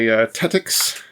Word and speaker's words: Tettix: This is by Tetix. I think that's how it's pronounced. Tetix Games. Yes, Tetix.